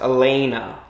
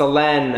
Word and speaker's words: Elena: But you're like, your actual name is not pronounced Elena. It's Elena. Wait, that's funny. I know that. Sorry. I'm here for it. Like, my name's Elena, but stay in your lane. Or I don't know, something like that. I wish. Instead it's Elena. It's Elena. Yeah. It rhymes with McKenna, for anyone curious out there.